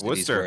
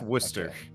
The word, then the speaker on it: Worcester: of unfortunate is it actually supposed to be pronounced chester or is it like no it's worcester it's just worcester so gotcha yeah there's a there's a lot